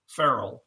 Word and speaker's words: Ferrell: to fit your personality and your last name's pronounced Fel Ferell f e r r e l lell see